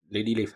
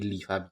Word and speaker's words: Lihua: Uh, Lady Lifa because that's the way they pronounce it. Even it is written Lihua, they pronounce it Lifa, so I'm going to pronounce it Lifa.